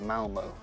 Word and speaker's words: Malmö: How do you pronounce Malmö. Mal? I call it Malmo in English. Yeah. With my accent.